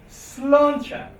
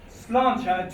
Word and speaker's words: sláinte: So if you're in Ireland, then you make sure to say sláinte. And now you know why. Now you know why it's written like that, because that's the ch sound. So sláinte to your health.